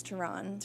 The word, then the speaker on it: Teron: he is so loud it's not terrone it's teron teron I literally had to ask him how to pronounce his name because I was like is it terrone or teron and he was like